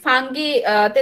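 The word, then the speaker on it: fungi: example হচ্ছে আমরা যদি ফাঙ্গিতে দেখি ফাঞ্জাই বলে ফাঙ্গি বলে যার যেটা মঞ্চে উচ্চারণ করতে পারো এখানে দেখো এটা একটা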